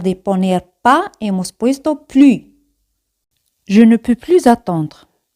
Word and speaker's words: plus: Pues acordáis de más, plus, plus. Siempre ese al final no se pronuncia.